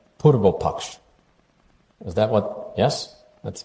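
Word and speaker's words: Purvapaksha: I hope I will pronounce it correctly. Purvopaksh.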